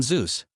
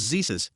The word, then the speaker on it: Zeus: I chose to do my project on Zeus. However, I was nervous and for some reason referred to him as Zesus, Jesus with a Z.